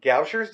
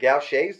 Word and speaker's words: Gaucher: rare disease uh called gauche goucher's disease it's like a congenital type of thing or gaucher's disease depending on how you want to pronounce it and what it is